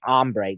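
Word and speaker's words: hambre: re e that's CU really it's supposed to be ombre the Spanish word for Hungry uh but you have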